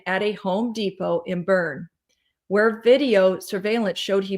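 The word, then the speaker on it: Boerne: Brad Simpson went to a Water Burger in I think that's pronounced burn b o e r n e and the bed of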